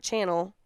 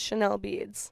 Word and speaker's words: Chanel Beads: it called Chanel beads it's not channel it's Chanel beads what are you talking